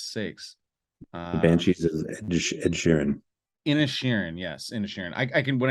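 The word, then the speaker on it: Inisherin: Inishirin, yes, Inishirin. I can, when I see it, I can say it properly. Just think Ed Sheeran.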